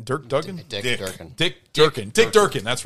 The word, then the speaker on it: Dick Durkin: I actually didn't mind Alistar, the Dirk Duggan. How do you say his name? Dirk Duggan? Dick Durkin.